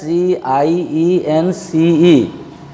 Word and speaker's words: science: The same way as SCIENCE. Here also, C is preceded by S and followed by I. Hence, C has no sound.